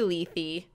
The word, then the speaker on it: Lethe: way um what's been going on is been Ley I was pronouncing it leth in the beginning it's l e t h